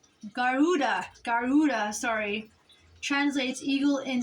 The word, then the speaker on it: Garuda: called a uh I'm not sure if I'm pronouncing it right right but it's called the G gadana which is which is the guda which is a mythical bird in Hindu and it's uh G Garuda Garuda sorry translates Eagle in Sanskrit now I